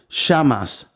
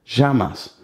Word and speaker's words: llamas: So, for example, if you went to Argentina, Uruguay, they would pronounce it like llamas, like a sh, sh, llamas. But most Spanish countries would actually pronounce it as a j, ja, llamas.